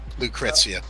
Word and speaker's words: Lucrecia: you pronounce the name is it lucrezia or lucrecia lucrezia okay chris here were assigned to